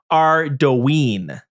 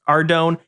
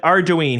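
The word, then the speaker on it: Ardougne: And first off, he's saying he is saying it is pronounced Rween. Whatever. You know what I would say? You're probably right. But I have all I have watched the Jmods uh pronounce Ardone and nobody at J Jagex HQ has any idea of how it's spelled. So I think it's up for interpretation, but we'll go with it. Ardoine, he says.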